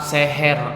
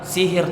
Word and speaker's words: sihir: ini yaitu sihir namun Seharusnya Kita mengucapkannya itu katanya sihir teman-teman bukan seher Nah itu dalam bentuk